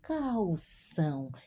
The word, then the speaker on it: calçam: meninos calção observa aqui o l diante de uma consoante pronunciamos uma o Né não é cal é calção e a ser cedilha ser